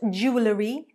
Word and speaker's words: jewellery: It is not jewellery, jewellery, jewellery, but it is jewellery, jewellery, jewellery, jewellery. 2 syllables, not 3.